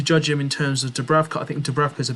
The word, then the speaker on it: Dubravka: We had Darlow and I think it's Dubravka, that's how you pronounce his name, because there was a phase where, Dubravka did come in and play for a bit of this season.